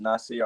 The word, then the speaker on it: Nasir: It's pronounced Nasir. I know my name is NVHSIR.